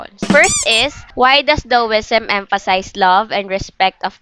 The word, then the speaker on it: Daoism: Hence, Taoism or Daoism, it is pronounced as Daoism.